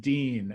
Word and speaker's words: Duin: him by the way the last name oddly enough is pronounced dean it is spelled d-u-i-n but it's a weird